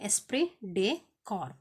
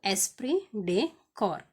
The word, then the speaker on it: esprit de corps: So next one ಎಸ್ಪ್ರಿ ಡೆ ಕಾರ್ಪ್ ಅಂತ. ಸೊ ಏನು ಎಸ್ಪಿ ಡೆ ಕಾರ್ಪ್ means, SP Day, here T is silent, okay. Esprit de corps, PS is silent here. So Esprit de corps ಏನು, team ಸ್ಪಿರಿಟ್.